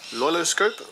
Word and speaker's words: LoiLoScope: a Panasonic Lumix disc uh featuring silky pcks loiloscope that's how you pronounce it and photo fun Studio 8.5 PE